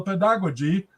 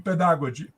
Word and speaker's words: pedagogy: she did not speak she did not pronounce very well pedagogy I think she was pronouncing like in the you know inter iic period with a with a German influence where the D was pronounced a t in pedagogy anyway the thing is